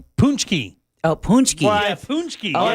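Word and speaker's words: pączki: It looks like it says Packzy. That's what it looks like it is, but it's not pronounced like that. It's probably pronounced Packy. Punchki.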